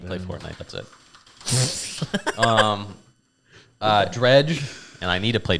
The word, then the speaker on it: Dredge: in Dredge.